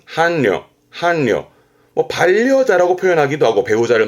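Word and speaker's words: 伴侶: 발음은 한려, 한려.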